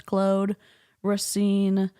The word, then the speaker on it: Claude Racine: So if you're not sure how to pronounce her name, it's Claude Racine, formerly Beachbody, currently Scientology and fat shaming wonderkin.